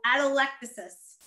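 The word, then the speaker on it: atelectasis: types and we'll talk about that okay so adolectasis is how you pronounce this and again it is the term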